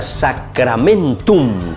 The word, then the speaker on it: sacramentum: No se olviden que la palabrita sacramentum, que es una palabra latina. A ver, Vanessa, ¿cómo se dice entonces en latín? Sacramentum. Muy bien, con la M al final.